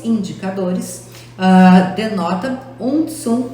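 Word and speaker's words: cun: O Tsum, a ortografia é Kun. Porém, nós utilizamos a pronúncia Tsum.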